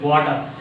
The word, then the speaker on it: water: Water.